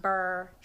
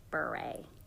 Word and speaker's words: Beret: Not burr, not bure. Beret. Damn girl. Beret. She mad. Like raspberry beret. Green beret. Beret.